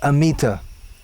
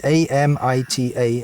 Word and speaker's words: Amita: saw the name written A-M-I-T-A, and we pronounced it the best we could. And in English pronunciation, you generally stress the penultimate syllable, so it came out Amita.